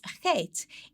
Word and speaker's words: Chet: The significance of Chet is that it's seen as a doorway or an entrance. And the phonetics of it is it's ch. So as in Bach, it's pronounced with a ch.